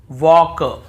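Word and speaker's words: walk: भी हम टॉक टॉक वॉक वॉक चॉक चॉक यक यक फॉक फॉक ऐसे पढ़ कहीं पर भी टॉल्ट वाल्क चालक यल्क फॉल्क नहीं पढ़ रहे हैं लेकिन य गलत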